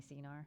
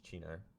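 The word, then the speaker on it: Cynar: Are you having any CNR? You know you can only have it one night. It's Chinar. I don't know, it's not. Just spell it with a CH.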